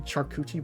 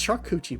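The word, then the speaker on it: charcuterie: Shuchi board. It's Shakuchi board. It's obviously Shakuchi board.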